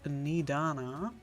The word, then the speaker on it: Nidana: Okay, Nidana. Come with me, all of you, and I can explain the crux of the situation. Gut, dann weiß ich jetzt schon mal, wie der Name ausgesprochen wird. Nidana.